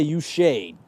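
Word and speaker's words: Uche: know how to say this one is spelled u-c-h-e so I'm going to say you shade joshay I think you're right Yuka without the r he's had a sack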